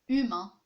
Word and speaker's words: humain: Lorsqu'on dit un mot, on dit par exemple, c'est humain, un homme, les humains, un humain, des êtres humains. Il y a le H, mais on ne le prononce pas.